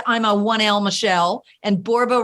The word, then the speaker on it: Borba: One little alert, I'm a 1L Michele, and Borba rhymes with Zorba.